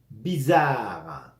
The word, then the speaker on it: bizarre: la poitrine c'est bizarre la Z ou no entre vocales va sonar hein bizarre c'est bizarre c'était cage